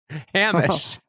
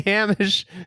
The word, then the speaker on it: Hamish: I think it's Hamish, like closer to Seamus. It's Hamish. Hamish.